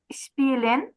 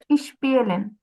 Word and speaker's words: Spielen: হুম Meine Hobbys sind Reisen, হুম Spielen হুম। und Hören Musik. হ্যাঁ, Danke. সুন্দর হয়েছে, কিন্তু এখানে স্পিলেন বলেছেন, এটা স্পিলেন হবে না, এটা প্রোনাউন্সিয়েশনটা কি হবে? স্পিলেন। Spielen. হ্যাঁ, এটা হবে স্পিলেন।